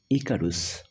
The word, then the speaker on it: Icarus: লেসনটার নামকরণ করা হয়েছে ইকারস ইউ ক্যান সে ইউ can pronounce ইট ইকারস ইকারস হিসেবে তুমি প্রোনাউন্স করতে পারো তো আমাদের এই লেসনটার